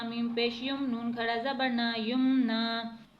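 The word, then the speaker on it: يُمْنَىٰ: वैसे ही रहती है, यानी उसमें हम साकिन नहीं करते, तो हम इसे युमना ही पढ़ेंगे, युमना।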